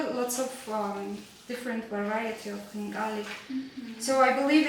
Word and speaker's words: Khinkali: that way but I can't how did you pronounce it the first time it's Khinkali you are doing great actually okay that's a